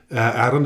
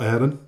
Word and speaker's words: Arron: It is pronounced Arron, isn't it? Not Aaron?